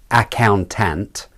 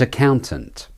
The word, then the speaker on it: accountant: is accountant accountant accountant both a vowels are de-stressed uh tint not ack and tent the ow is the clear vowel and so it's the stressed syllable it's not accountant but accountant accountant accountant the rhythm is